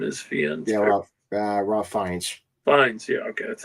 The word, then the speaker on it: Fiennes: Yeah, Ralph Fiennes. Fiennes, yeah, okay, that's how you pronounce it.